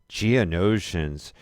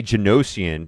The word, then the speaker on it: Geonosian: Geonosians. I always want to say Genosian, but it's Geonosian.